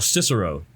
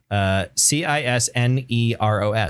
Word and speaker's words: Cisneros: Al Cicero. Cicero? Yeah. No. Isn't it? No, it's like CIS. I can have the page here. CISNEROS. Oh, it is Cisneros. Yeah, Cisneros. yeah. Cisneros, right? Cisneros.